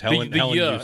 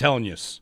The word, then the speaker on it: Helenius: Yeah, use. The word use. Helenius. In the second part. 3 syllables. He said it. It's Helenius. Helenius.